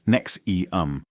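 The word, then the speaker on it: NXIVM: 1990s Keith rier co-founded enam pronounced NEX eum presenting it as a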